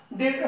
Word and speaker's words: debtor: डेटर, डेटर DEBTOR, इसको pronunciation करेंगे मित्रों डेटर, डेटर का अर्थ होता है देनदार, जिसको ऋणी कहते हैं, ठीक है।